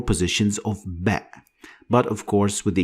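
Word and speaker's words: باء: Ba is pronounced like the B sound in English, like when you use it in the word bat.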